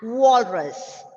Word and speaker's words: walrus: Porcupine, porcupine, and walrus. It starts with W. So round your lips and say walrus.